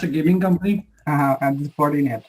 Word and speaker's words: Fortinet: It's Fortinet. Actually, it looks like the same one. It's Fortinet.